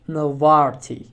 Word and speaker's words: نظارتي: نظارة basically means eyeglasses, but when it's attached with another nouns or pronouns, we have to pronounce it like نظارتي. When it's detached, we have to say نظارة.